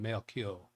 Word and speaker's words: Mercure: I just want to pronounce it Mercure. I'm not getting that. It shouldn't be rolling the R. Mercure. That's what Yes, I want to say. affirmative. Mercure. Mercure with the mer. Mercure. Give me another yes if that's the most correct pronunciation.